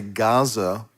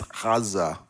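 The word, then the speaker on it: עזה: It's like we say Gaza, but it's Gaza. It's with the Ayin. So it does have a guttural sound, and it might sound, kind of like what we would make a hard G sound. Gah, but it's more guttural.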